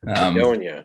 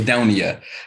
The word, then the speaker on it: Idonia: it is it is edonia Adonia okay Adonia um which is originally comes from it's a play on Eden um was where it